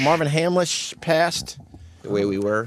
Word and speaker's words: Hamlisch: that how that how you say his name Hamlet Marvin Hamlisch Marvin Hamlisch past the way we were the way we